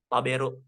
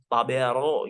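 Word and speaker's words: 食べる: Jadi contoh ada ucapan kata kerjanya makan tadi, taberu. Jadi pas kita lagi tulis di Google taberu, kan ada yang ngomongnya itu didengerin juga. Taberu itu gimana sih ngucapnya yang betul? Taberu, taberu. Jangan sampai taberu gitu kan aneh gitu jadinya kan.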